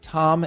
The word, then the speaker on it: Thom: we've got uh Mr Tom singer and it's not pronounced th singer even though he spells his name with an H and I met Tom